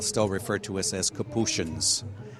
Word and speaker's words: Capuchin: Some places, especially in Europe, you'll go and they'll still refer to us as Capuchins. Here in the United States, of course, it's pronounced Capuchin.